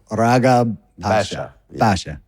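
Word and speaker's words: Ragheb Pasha: how would you pronounce it's more in the throat isn't it rabha Basha okay tell me tell me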